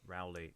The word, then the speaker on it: Rowley: Lust by William Rowley uh relly Rowley depending on your point of view I think uh Rowley is the approved pronunciation um but I don't care uh it's a tragedy